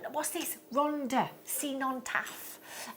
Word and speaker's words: Rhondda: Rhondda, Cenotaph. It's double D. If it's a double D, you pronounce it TH.